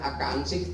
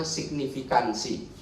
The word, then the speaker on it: signifikansi: ke alangga 2, nol ini bukan akansik Tapi bacanya signifikansi jadi pemilih di Jawa